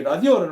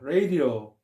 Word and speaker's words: radio: 한다는 거죠 그 다음에 Radio 우리 라디오를 말하는 건데 레이디오 레이디오죠 이렇게 하는데 이게 원래는 레이디오 텔레그래피 이렇게 무선 전신